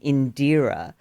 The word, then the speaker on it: Indira: would say my name in deer. And the bit of my name that people would connect with or recognize was the deer. And of course, it's not spelled dear, D E A R.